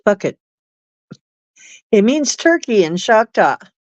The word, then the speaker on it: fvkit: KIT, FVKIT, and it's pronounced bucket.